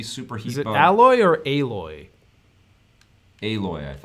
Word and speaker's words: Aloy: No, I think it's alloy. Yeah, that makes sense because of the metal theme of the game, right? Or Aloy. It's Aloy. It's different than the way it's spelled. I remember that.